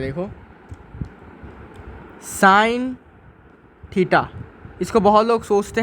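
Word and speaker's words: sin: करते हैं जब भी हम इसको स्टेटमेंट वाइज प्रोनाउंस करेंगे इसे कहेंगे हम साइन ऑफ एंगल थीटा ठीक है साइन ऑफ एंगल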